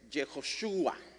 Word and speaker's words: Jehoshua: nombre va a ser Jehoshua. Jejoshua. Y Jejoshua o Josué significa Jehová es salvación. Hay gente que lo pronuncia mal y dice Jejoshua. No es Jehoshua.